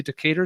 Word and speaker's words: Decatur: Decatur, is that how you pronounce that?